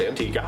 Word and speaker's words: Antigua: Antigua, which I did learn is pronounced Antigua.